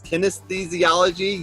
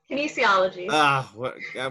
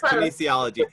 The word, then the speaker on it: kinesiology: holds three degrees and can oh i'm gonna mispronounce this kinesthesiology you can fix it later for me samantha